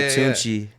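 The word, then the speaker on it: Tunechi: yeah, It's yeah, pronounced yeah, the same way? Tunchi, yeah, Oh, it's word.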